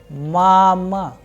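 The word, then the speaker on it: мама: So, in case of mama, the sound of first vowel a is higher, whereas the sound of second a is lower. That is why the pronunciation is mama.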